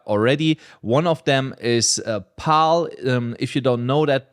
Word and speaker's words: PAAL: One of them is PAL. If you don't know that project, it's spelled PAAL.